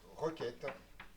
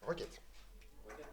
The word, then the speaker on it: requête: Le SQL est constitué de requête qui à partir d'un ensemble de tables produisent une nouvelle table. Voilà. Salut. Oui. Requette. Requête, c'est c'est du c'est du français mal prononcé comme d'habitude.